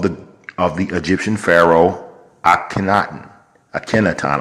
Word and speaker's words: Akhenaten: of the Egyptian pharaoh akhenaten a tenet on I like to say at Kennett on because it sounds cool but i guess is supposed to be pronounced Akhenaten but this is my video